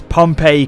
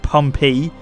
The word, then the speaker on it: Pompey: I'm pronouncing it correctly people have been telling me already it's pronounced pompy so here we go